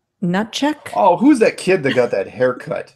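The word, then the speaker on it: Hnatiuk: The last name H N A T I U K is pronounced Nut check.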